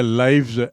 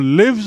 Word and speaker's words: lives: और लिव्स मतलब, लिव से जो लिव्स बना उसका उच्चारण देखिए, स्पेलिंग वही है LIVES, लेकिन उच्चारण हो गया लिव्स।